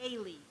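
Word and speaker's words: ceilidh: style service or a Kaylee that's the right pronunciation or so I've heard um announcements do I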